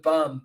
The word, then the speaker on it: Bohm: Our guy Moyes says, Bohm rhymes with bum.